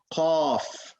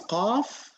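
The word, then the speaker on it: ق: What happens is when you pronounce qaf, the back of the tongue blocks the airflow. So you say aqqa. You don't feel the airflow as much as kaf.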